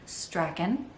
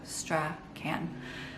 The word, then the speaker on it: Strachan: my last name is stragan it's scottish and it's said pretty much just like it's spelled except for that the h is silent so straw can and in retrospect since